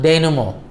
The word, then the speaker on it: denouement: Now, we come to the last part, which is pronounced as denouement. This word itself is derived from the French word meaning untie the knot.